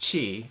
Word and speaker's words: qi: right place because chi q i is actually pronounced chi in chinese and chi will help